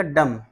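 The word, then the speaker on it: dumb: कॉमब को means Ganga D यू एम बी डम डम नहीं पढ़ा जाएगा ये पढ़ा जाएगा डम डम माने गूंगा टी एच यू एम बी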